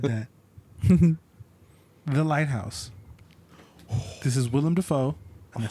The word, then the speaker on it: Willem Dafoe: This is Willem Dafoe. And I said it right, bitches. Willem Dafoe and Batman.